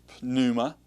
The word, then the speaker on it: pneuma: Same thing in the word pneuma. Now, I've heard some pronounce it. For example, Muntz pronounces that word as pneuma. He actually pronounces the P. Some say it's silent.